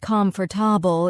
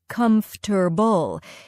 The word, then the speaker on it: comfortable: It's not comfortable, it's more like comfortable. English cuts sounds sometimes, so listening to native speakers really helps.